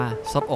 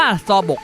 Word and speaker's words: Seobok: อะไร รู้ ไหม ครับ ผม อ่าน ว่า ศพ ออก ครับ จริง ๆ แล้ว นะ นี่ อ่าน ว่า ซอ บก นับ แล้ว ต่อ บก